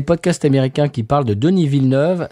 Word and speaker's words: Denis Villeneuve: parlent de Denis Villeneuve, c'est extrêmement rigolo d'entendre les Américains essayer de prononcer Denis Villeneuve. Comment il est? Danny Villanueva, si. Voilà. Parce qu'ils prennent le truc, parce qu'ils ont déjà entendu Villanueva en espagnol.